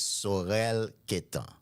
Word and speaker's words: Saurel Quettan: So, uh, my name is Sorel Ket. If you do not speak Haitian Creole, you can say my name and automatically you are a creole speaker. Because I love hearing my name the way it is spelled, the way it is pronounced by the people in my home.